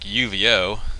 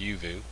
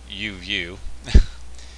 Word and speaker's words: Uvioo: Even though it looks like Uvoo, it's actually pronounced Uvioo. Uvioo.